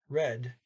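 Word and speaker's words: rød: Just to note, so R, O cross D is red. When you add the E, you still don't pronounce that D.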